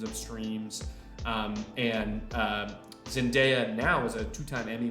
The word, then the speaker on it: Zendaya: Zendaya and in case you're unaware it's definitely pronounced Zendaya she's been working her entire life for people